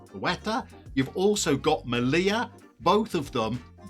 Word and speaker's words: Ceuta: It's spelled Ceuta. I think it's pronounced Ceuta.